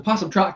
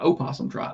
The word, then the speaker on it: Possum Trot: There's a Possum Trot, Kentucky. A lot of possum trots out there. It's spelled with a P, not an O. It's not O possum Trot. It's just possum Trot.